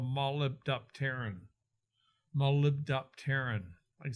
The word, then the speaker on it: molybdopterin: move it around, it forms a thing called molybdopterin.